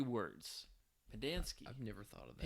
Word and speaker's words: Pendanski: in the book, like his name was like the alliteration of like Pen, Dance, Key. I don't know if alliteration is the right word, but it's like that's how it's said.